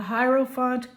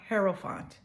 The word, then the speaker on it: Hierophant: The Hierophant card and the person on your mind. Actually, it's pronounced Hierophant.